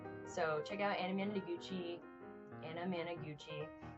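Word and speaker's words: Anamanaguchi: Anamaguchi. Uh literally it's spelled exactly how it sounds.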